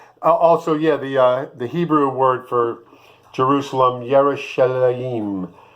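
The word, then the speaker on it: ירושלים: The Hebrew word for Jerusalem, Yerushalayim. Yerushalayim.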